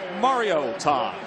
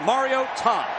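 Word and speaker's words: Mariota: So Marcus Mario Todd and that is how you pronounce the name because mom called from Hawaii Matt and said, "Listen up folks, it's Mario Todd." Put a hyphen between that Mario and Tom.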